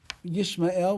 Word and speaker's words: Yishmael: So he says, if you look at the name Yishmael, so we pronounce it Yishmael, which is just like Yisrael, but those two dots are not under the aleph in his name, which is God's name.